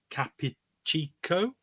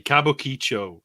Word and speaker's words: Kabukicho: red light neighborhood of Capichico, where it's located. I said that completely I love wrong. a good Capuchico. Yeah, I love a good Capuchico, you know. It's Kabukicho. Sorry, Kabukicho is the correct pronunciation.